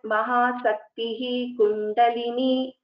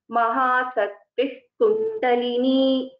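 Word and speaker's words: महाशक्तिः कुण्डलिनी: Instead, we will chant it as Mahasakti Kundalini. This is how we will pronounce this. So whenever there is a Visarga and after that there is a Ka or Kha, we have to keep this point in mind.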